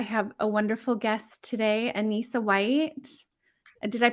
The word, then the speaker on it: Anisa: I have a wonderful guest today, Anisa White. Did I pronounce it right? It's Anisa?